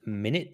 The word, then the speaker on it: Minute: So I'm going to cast Melf's Minute Meteors. All right, who are you casting it on? Minute. So it's pronounced minute actually.